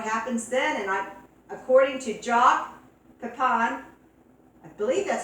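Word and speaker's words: Jacques Pépin: And according to Jacques Pepin, I believe that's how you pronounce his name, Jacques Pepin, the French chef, that's the best way to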